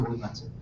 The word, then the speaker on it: Nobuo Uematsu: Nobuo Uematsu. You can't say that? Nobu or Nobu? Nobuo. It is Nobu. Nobuo Uematsu.